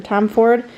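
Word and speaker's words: Tomforde: I thought it was Liz Tomford or Tom Ford, but at the beginning of the audio book, the narrator pronounces it Tom Ford, so that's what I'm going with.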